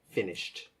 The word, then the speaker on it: finished: Be careful not to add an extra syllable there. Finished.